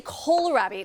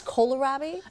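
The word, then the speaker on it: kohlrabi: So, you say karabi now. My mom grew it in our garden. and she said kalarabi. So it's kolarabi. I've been saying it wrong my whole life.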